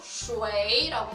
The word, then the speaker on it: 水: 중국어로 슈웨이라고 합니다.